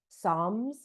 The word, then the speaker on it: Psalms: way of PS o NN that's how it's pronounced song Psalms and um that I do every single day